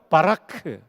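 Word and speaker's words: ברך: 동사에 히브리 말로 바라라고 해요 한번 따라해 보실까요 바라크 발음 좋아요 거의 신대운 수준입니다 근데이 바라크라 동사는 뜻이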